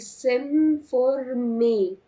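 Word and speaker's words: s'informer: حاجه كده سن فورمي هنلاحظ ان دايما الاو في الاخر مش بنطقها يعني مش بنطق الار بقول سم فورمي الاو ار مش هنطق الار معناها يستعلم طب عايزه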